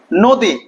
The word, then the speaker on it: নদী: হয় কি খেয়াল করো আমরা বললাম যে নদী কোন কাঠ দীর্ঘ কিন্তু উচ্চারণ করছি কি ভাইয়া নো দি ওকার হলেও কারণ আছে